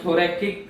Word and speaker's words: thoracic: Okay, कौन सी cavity में heart होता है, तो वो होता है थोरेसिक कैविटी। अब थोरैकिक कैविटी बोलो या थोरेसिक कैविटी बोलो, दोनों ही वैलिड है, बट स्पेलिंग मिस्टेक नहीं करना, राइट।